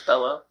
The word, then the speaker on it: Bello: The next year he appeared in the drama Beautiful Boy with Michael Sheen and Maria Bellow, whatever, however you say it. It's Bellow.